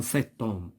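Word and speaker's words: cet homme: دونك كاين عندنا حتى لاش muet، مثلا سيتوم. نعطيو مثال ديال اش muet. دابا عندنا اوم، هادي اش muet، دونك كنقولو سيتوم.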